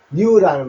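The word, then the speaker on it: news: 요는 써놨지 않데 S 붙으면 즈라 해서 뉴스죠 뉴즈라는 말 새로운인생 아시면 된니다 뒤에 S 붙이면 요게 뉴스라는 단어인데을 발음은 요거라고 하십시오 즈라 합니다 뉴즈 뉴즈 발음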